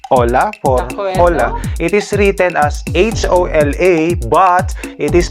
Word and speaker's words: hola: no in spanish okay we don't pronounce the letter h so we say hola